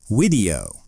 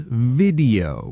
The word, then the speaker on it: video: Wido. Is that correct for the thing you watch on your phone? Great. The correct answer is video with the vv sound. Teeth on your lip.